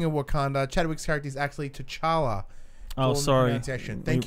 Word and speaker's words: T'Challa: Wakanda chadwick scaredy's actually T'Challa oh sorry in session thank you very much yes we do appreciate the yeah I believe it's pronounced T Challa oh sorry - Charla